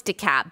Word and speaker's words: DeKalb: but i did know it's decap because i used to live in georgia too and i remember that so we're waiting on dekalb and fulton and chatham